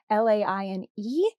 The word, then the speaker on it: Laine: I'm not even sure if Lane is the correct way to say that. It's Laine.